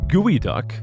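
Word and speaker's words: geoduck: nice it felt good the words pronounced gooey duck source of contention they're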